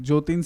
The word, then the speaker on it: Joteen: knows this that the thing is my spelling jotin's spelling is j o t double e n